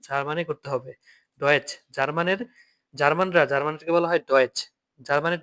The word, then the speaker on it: Deutsch: আপনি এটা দেখে তো অনেক সময় ইংলিশে অনেকে উচ্চারণ করে ফেলে, ঠিক আছে, ইংলিশে করা যাবে না, জার্মানে করতে হবে। ডয়েচ, জার্মানদেরকে বলা হয় ডয়েচ, জার্মানের ডয়েচ কি ডয়েচ।